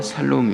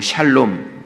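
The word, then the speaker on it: שָׁלוֹם: 바랍니다 오늘 말씀의 제목은 여호와 살롬 입니다 평강의 하나님 이란 뜻이구요 그리고 샬롬 쌀로 뭐 이렇게도 이야기하는데 성경에는 살로 이렇게 되어 있습니다 그래서 원어를 이렇게 발음 하는 거기 때문에 뭐가 맞다 틀리다 라기 보다도 좀더 오늘 가깝게 이야기한다면 여호와 살롬 이렇게 이야기를 합니다 먼저 첫번째로 0 참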